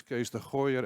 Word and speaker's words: Kees de Gooijer: will be talking about it my name is case the higher as exceptionally well pronounced by Mia and I'm the chief inspiration